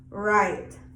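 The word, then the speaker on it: write: the vowel snow snow the w is silent before r right right w may also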